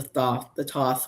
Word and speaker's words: Thoth: And Simon Hermit's Cave did a video where he got a deck that was based on the Thoth, or the Thoth, how you want to pronounce it.